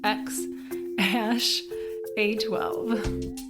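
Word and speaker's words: X Æ A-12: and apparently someone said the AE symbol is pronounced ash I am recording this later Elon Musk has confirmed after we recorded this that the baby's name is pronounced X hash a 12 but they're not even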